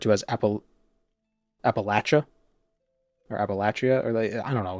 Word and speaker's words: Appalachia: Actually, it's pronounced appalac lakia. the ch as in lock. Well, this it's the Appalachian Mountains, but I've also heard the region being referred to as Appal Appalachia or Appalachia or I don't know.